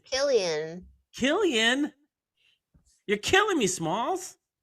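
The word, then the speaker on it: Cillian: Killian. Killian. Wow. Okay. The Irish pronunciation.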